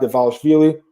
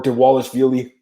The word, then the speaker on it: Dvalishvili: Cody Stamann versus Merab Dvalishvili. Or Dvalishvili. I've heard different pronunciations, but I like this fight a lot.